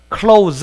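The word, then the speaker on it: clothes: 이 생긴 발음 기어가 클라우드 스 아니에요 그냥 클라우스 라고 해서 이 녀석과 이녀석은 발음을 안 한다고 표시 하세요 자 예와 얘는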